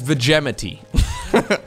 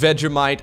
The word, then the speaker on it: Vegemite: I at some point pronounced this word as vegemity and let's just say that the Australians made fun of me for weeks if this is pronounced Vegemite I feel like this